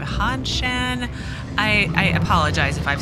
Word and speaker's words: Hanshan: a pass to leave he keeps wanting to say honshu instead of han shen i i apologize if